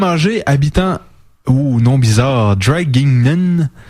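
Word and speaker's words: Draguignan: habitant ou nom bizarre dragingen on va le prononcer avec un accent français parce que c'est en France dragignon en France lui a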